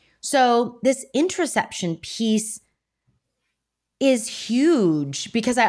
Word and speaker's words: interoception: Okay, so today we wanted to tackle what is interoception.